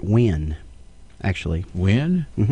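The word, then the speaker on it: Nguyen: of Asian descent and I think they pronounce that win actually when mm-hmm okay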